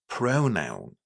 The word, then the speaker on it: pronoun: it was the word pronoun. I used to pronounce it with the short O sound in that first syllable, and that's completely incorrect.